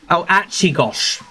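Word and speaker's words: Açıkgöz: Hadise Achigosh. That's how you pronounce it.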